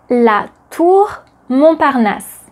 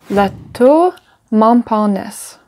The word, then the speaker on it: La Tour Montparnasse: La Tour Montparnasse. Can you repeat it? La Tour Montparnasse. La Tour Montparnasse.